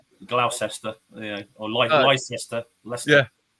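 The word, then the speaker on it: Leicester: Yeah, that's Yeah, we have we have a few places like that like Glester or Lester Lester.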